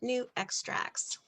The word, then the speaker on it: Nu Xtrax: And then I put down here that it's the new extracts and that's how you pronounce it, new extracts.